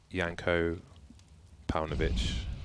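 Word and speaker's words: Janko Paunović: Man like Janko Paunovic, I'll say his name properly for once, instead of the alter ego.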